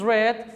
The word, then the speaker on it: read: and by the way the pronunciation is read for the past simple and the uh pp of the verb we say read not read so she has read